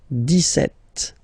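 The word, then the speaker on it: dix-sept: But then for the pronunciation, D set. Okay, so you don't insist on the det.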